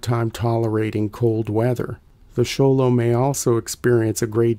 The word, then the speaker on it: Xolo: the word sholo sly is often shortened to sholo by non-mexicans and Mexicans alike for ease of pronunciation the word is from naat the language